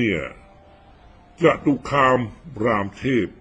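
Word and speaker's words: จตุคามรามเทพ: นะ เกน นำ เนี่ย จตุคาม รามเทพ อ่าน ว่า จตุคาม รามเทพ นะ ไม่ ใช่ รามเทพ เทพ องค์ หนึ่ง ขนาน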